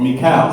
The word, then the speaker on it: Michal: except you first bring Michal, Saul's daughter, when thou comest to see my face. Or Michal, some people pronounce her name.